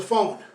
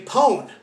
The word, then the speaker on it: phone: Now, PH is pronounced like F. Everyone knows a phone. Now, why is this important? Some languages don't have the letter F. So what they do is they say pone.